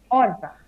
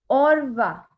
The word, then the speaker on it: au revoir: So to say goodbye, we use au revoir. Okay. It's au revoir. Au revoir. Okay. That is the pronunciation.